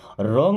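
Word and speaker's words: wrong: यह is means है रॉन्ग means होता है गलत अब देखिए डब्लू के बाद अगर कभी आर आ जाए तो डब्लू होगा साइलेंट यानी उसको नहीं पढ़ा जाएगा दिस इज रंग मीस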